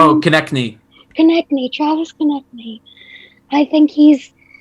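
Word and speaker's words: Konecny: Oh, Konechny.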